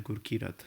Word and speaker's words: Gurkirat: I know these sounds don't exist together in English, but it's easier than Gurkirat, the true pronunciation. Though made to sound like English, the combination of sounds remain Punjabi.